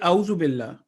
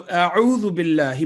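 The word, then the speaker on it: أعوذ بالله: a'udhu billahi minash shaytanir rajim, if we say a'udhu billah, we are not pronouncing ayn, which has its own right, and it will have an impact on the word. So a'udhu billahi minash shaytanir rajim would be the correct pronunciation.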